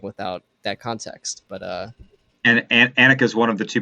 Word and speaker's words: Anika: Maybe I'm Anika. pronouncing Yeah, it wrong. it's with an eh. Anika. Yes.